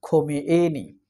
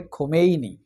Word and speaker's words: খোমেইনি: তিনি Ayatollah খোমেনি, খোমেনি, উচ্চারণটা হবে খোমেইনি।